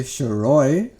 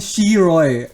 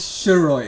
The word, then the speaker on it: Shiry: likes calling himself Roy most white people can't say shiry why because the sh e is silent yes they end up calling me Shir Roy that's exactly how you are excuse me I that is not how I am my name is shiry it's an uh sh